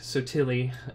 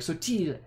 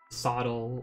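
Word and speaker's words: Sottile: My name gets mispronounced all the time because Sotili is the like anglicized version of how our family pronounces it. But if it were a true Italian, it'd be more like Sotile.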